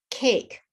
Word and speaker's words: cake: For example, the silent E, cake, you don't hear the E, care, you don't hear the E, watched, there's no ED.